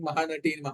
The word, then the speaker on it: Mahanati: Singh was repeatedly saying Mahanati, Yeah, Mahanati. Mahanati. And I was Yes, yes. getting irritated. Why this guy is pronouncing wrongly so many times? Then I understood that it's the right pronunciation.